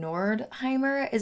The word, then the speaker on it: Nordheimer: we are talking about Ryan nordheimer is I believe how you say his name now he